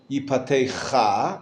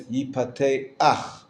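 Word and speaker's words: יִפָּתֵחַ: Right, when you have the patach, that line underneath the last letter of the word, underneath het, you actually pronounce it. You don't say yipatecha as you would expect, but it's yipateach.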